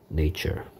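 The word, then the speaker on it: nature: 그 다음에 자연이 보입니다 명사 네이처 a의 발음이 이렇게 a가 된다는 점 잘 알아두시고요 네이처 자연 자 형용사형 형용사형은 자연의 천년의 a의 발음이 a 발음됩니다 발음기호는 요렇게 생겼습니다 내추럴 자연적인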